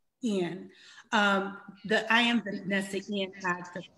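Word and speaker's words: Guillén: How do you pronounce her last name? I always get it. Guillen. Guillen.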